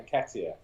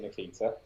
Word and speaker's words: Nketiah: Nketiah. Oh, okay, yeah, Nketiah. Oh, I was saying it wrong. Excellent. Yeah. I appreciate that. You might pronounce it Nikita.